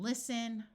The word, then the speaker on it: listen: wrestle Apostle and whistle words ending in sen also have a silent T like in listen oi says o this